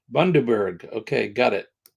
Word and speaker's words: Bundaberg: Pronounced Bundaberg. Bundaberg. Okay, got it. Bundaberg.